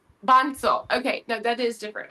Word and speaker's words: Bansal: I actually not sure if I am pronouncing your last name correctly. I would say Benol. It's Bunel. Yes. Right. Bansel.